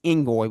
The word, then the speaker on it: Ngoy: and Narcissis Ingoy, which I do know for sure that is correct pronunciation on him because I've heard according at least the way Stephen Pearl says it.